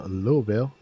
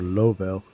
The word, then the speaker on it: Louisville: Uh we're doing a little cargo uh little short cargo run from uh Philadelphia over to Louisville. And yes, that's how you pronounce it. And uh or or Lovel, but uh yeah.